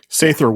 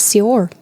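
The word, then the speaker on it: seiðr: Sather witch. It's a soft th. I thought it was Sior.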